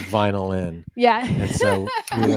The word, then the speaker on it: Vynilyn: to say our name we're called vinyl in it's vinyl plus viol I was I was gonna I I was gonna ask you that to make sure because sometimes my pronouncing go way out of the window they go you know they go away wrong as well we hear vinyan all the time it's kind of like